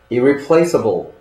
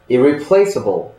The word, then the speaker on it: irreplaceable: 먼저 이 단어에는 강세가 두 곳에 놓여 있습니다.